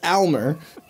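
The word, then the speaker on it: Aylmer: It's not even Elmer. It's spelled A-Y-L-M-E-R. Oh, are you serious? Yeah, it's Elmer.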